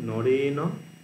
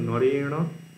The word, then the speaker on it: নরেন: পালিতে কি হয় তৃতীয়াতে নরেন উচ্চারণ বুঝতে পারছো নরেন নরেন নন্দন এবং মূর্ধন্য আলাদা উচ্চারণ নরাভ্যাম হয় না দ্বিবচন